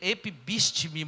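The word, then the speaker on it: ἐφίστημι: Ela é epibístime, mais ou menos assim a pronúncia.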